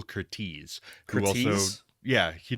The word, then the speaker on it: Curtiz: thought it was Curtis my whole life, but it's Michael Curtiz, who also, Curtiz?